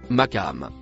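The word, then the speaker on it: مقام: Le mot bleu clair se prononce maam.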